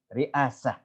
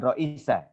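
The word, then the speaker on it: رئاسة: juga ada di situ ditulis riasah bukan Raisa kalau Rois yaitu ndak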